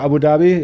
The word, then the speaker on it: Abu Dhabi: he's from Abu Dhabi he had a different pronunciation for Abu Dhabi it was uh which Babi Babi but it's Abu Dhabi for the rest of us so very happy to